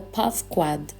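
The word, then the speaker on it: פקד: A palavra hebraica paquad, pronunciada pavquad, significa cuidar, visitar, punir, ir ao teste e passar no teste, ser responsabilizado, ser procurado, ser nomeado, para ser guardado.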